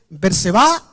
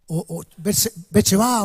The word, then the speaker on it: Berseba: en realidad es uno, uno lo pronuncia de una manera, el otro lo pronuncia de otro, dice Berseba o Becheba o algo por ahí, ¿no es cierto? O Berseba, también el otro, pero es lo mismo, no son dos lugares, son acentos diferentes que usan.